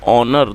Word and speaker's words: honour: और दोस्तों HONOUR ऑनर, दोस्तों इसमें H साइलेंट है तो इसको ऑनर पढ़ेंगे।